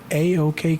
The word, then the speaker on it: AoK: But I mean, to the point that you started, you're the founder of AoK Consulting.